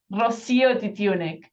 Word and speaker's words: Rocío Titiunik: How do I pronounce it? Rocío Titiunik.